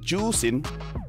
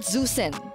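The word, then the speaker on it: Zhuxin: pronounce zusen no no it's pronounced as juin juin so it's not zusen I can speak mandin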